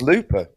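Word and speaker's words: lùbadh: the way um it's it's Gaelic it's just pronounced Lupa it's pronounced Looper is that every time you mentioned in that video he just says Looper yeah so it's just a Gaelic rendering of the word Looper right so there you go easy isn't it just how it's pronounced in Scottish yeah that's what he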